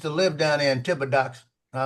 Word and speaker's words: Thibodeaux: Yeah, EAUX is a particular pronunciation in French. The bodig. Yeah, you got it. I know you have it. It's Thibodeau.